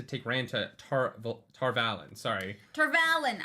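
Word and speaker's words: Tar Valon: Tarvalin. To go by Michael Reading or Michael Kramer's reading of it. I hate that pronunciation.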